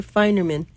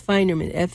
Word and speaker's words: Feinerman: His name's Feinerman, Feinerman. Wait, what's you spell it again? F is in Frank. Okay. EIN, like fine, FEIN.